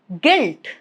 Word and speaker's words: guilt: Silent if it comes after letter G at the beginning of a word. Remember that, okay? For example, guess, guide, guilt. All of these three, as you can see, letter U is right after letter G. So, U is not pronounced. G is gonna take care of it.